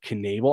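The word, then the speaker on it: Knaebel: or if you just Google Tyler Canal I think that's how you say his name k n aebl e you can also check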